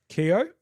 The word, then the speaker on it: Keogh: Jake Ehrman Keogh, I'm sure is how you pronounce his surname because I know somebody who's got that surname and that's how it's pronounced.